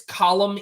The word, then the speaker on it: Colm: pronounce it's it's fun it's column even though it's spelled c-o-l-m column um and then Dominic